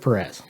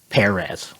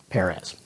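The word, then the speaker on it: George Pérez: Now, most of my life, I pronounced it Perez, which is not right. And I did a bunch of research to determine that, and I found a lot of interviews with him, and he says Perez, like the fruit, Perez.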